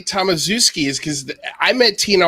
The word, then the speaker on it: Tomaszewski: Don't get me wrong, but for Polish people, we would pronounce that Tomaszewski.